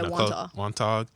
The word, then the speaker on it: Wantagh: So you guys lost to, I don't know how to say this name, Wantagh? Yeah, Wantagh.